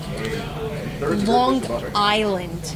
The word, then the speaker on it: Long Island: Long Island. You gotta pronounce every word. Long Island. What makes you pronounce that G?